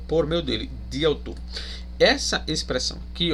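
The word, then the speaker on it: δι' αὐτοῦ: E aqui você também pode, observe essa expressão aqui, ó, diautu, né? O di é a preposição dia, né? Aqui ela também é uma preposição proclítica, né? Onde vai ser diautu, ela se pronuncia juntamente com o autu, né?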